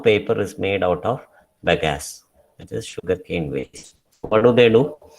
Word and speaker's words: bagasse: It is called BAGASSE. How is it pronounced? It is pronounced as bagasse.